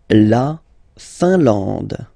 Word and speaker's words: Finlande: La Finlande. I-N here, nasal, un. A-N, nasal, en. And then D, final E, not pronounced.